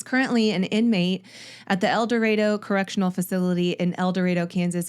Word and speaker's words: El Dorado: Community College so save it I know it's pronounced eloro okay I would never call it that I